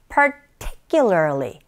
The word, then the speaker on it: particularly: 철자도 중요하지만 강세 놓치지 마셔야 되겠죠? Particularly, particularly 이렇게 발음하시는데 특히라는 의미가 되겠습니다.